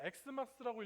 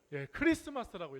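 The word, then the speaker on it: Xmas: 그러니까 우리는 사실 엑스마스라고 읽으면 안 돼요. 항상 뭐라고 읽어야 돼요? 뭐라고 읽어야 된다고요? 크리스마스라고 읽어야 돼요.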